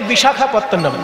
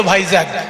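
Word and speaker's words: বিশাখাপত্তনম: স্টেশনটা নামতে হয় সেই বড় স্টেশনটার নাম হচ্ছে বিশাখাপত্তনাম দক্ষিণ ভারতে যেতে গেলে দেখবেন একটা বড় স্টেশন আছে বিশাখাপত্তনাম ইংরেজরা অত কঠিন নাম উচ্চারণ করতে পারতো না বলে তারা নাম দিয়েছিল ভাইজাক ওই জন্য সবাই এখন ভাইজাক ইংরেজদের শেখানো না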